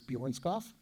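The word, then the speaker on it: Bjørnskov: I never know how to pronounce the O with the slash in it, but I believe it's Bjornskov.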